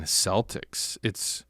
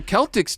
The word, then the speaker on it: Celtic: I think because we're pronouncing it wrong. So it is Celtic. I never even really thought about it until recently. Boston Celtics, right? You wouldn't call them the Celtics, but it probably should be the right.